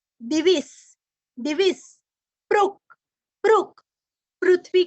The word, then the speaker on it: दिविस्पृक्: अभी इसको हम जोड़ेंगे दिविस्पृक् सर्वदृग व्यासो। स्पृक् बोल के सर्वदृग बोलना है।